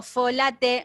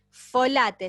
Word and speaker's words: folate: folato es transparente pues si yo digo folate no no no hagamos la pronunciación correcta folate se escribe folate folate folato sí la